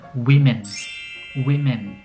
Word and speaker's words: women: น ะ ค รั บ ก็ คื อ pronounce ว่ า women W-O-M-E-N น ะ ค รั บ ถ้ า